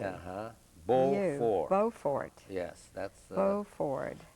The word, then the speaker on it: Beaufort: Beaufort. Beaufort. Beaufort. Oh, B-E-A. Uh-huh. Beaufort. Beaufort. Yes, that's... Beaufort. In English, they pronounce it Beaufort when it's French, and it's Beaufort.